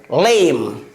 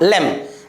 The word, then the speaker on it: lame: It is also ending with the letter E, but it has no its own sound, and before this letter there is a letter M, and M is a consonant, and before this M there is a letter A, so we will pronounce it what? Lame. Lame, not lem, it's lame.